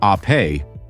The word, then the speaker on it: Ape: This is the Vespa Ape, pronounced Ape, which means bee in Italian, just as Vespa means wasp.